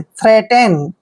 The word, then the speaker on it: threaten: Next word देखिए THREATEN, देखिए TH को हम क्या पढ़ रहे हैं, थे, और R को रे पढ़ते हैं, और ई ए को हम ए की मात्रा पढ़ते हैं और टी ई का उच्चारण टे करेंगे, एन को ने पढ़ेंगे। थ्रेटेन, थ्रेटेन होता है धमकाना,